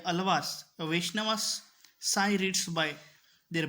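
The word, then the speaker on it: आळ्वार: अलवर भी हैं, अलावर भी हैं। अलवर की जगह अलावर जो है वो करेक्ट प्रोनाउंसिएशन है, उसका स्पेलिंग भी थोड़ी मिस्टेक है, आपको अलावर ही पढ़ना है इसको।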